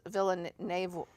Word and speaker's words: Villeneuve: And it's directed by Denis Villeneuve.